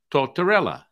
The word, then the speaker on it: Tortortella: So I would like to welcome to the podcast today, Bill Tortortella.